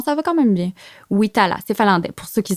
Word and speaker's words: Witala: Avec Wita, là? T'as dû toutes les entendre, là. Non, en général, des fois, le monde dit Vita, là, parce que c'est finlandais.